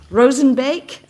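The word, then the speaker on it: Roozenbeek: John, and I've made the mistake of not asking him how to pronounce his name, so I'm about to mangle that. Rosenbeek.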